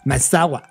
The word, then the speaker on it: Maezawa: Bueno, o lo estoy pronunciando. Maezawa.